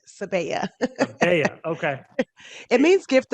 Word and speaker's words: Sebiya: a spin on it it's sebea i believe i made that up actually i really did make up how to pronounce it but i'm just going to stick with it sebaya yeah okay it means